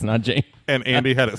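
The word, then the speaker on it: Nanjing: first Beijing or noning Mike says nonan I should have I should have told you how it's spelled it's n an but uh Kev says Nan also awesomely spelled and Andy said n Jing that's correct it's n Jing and Andy had it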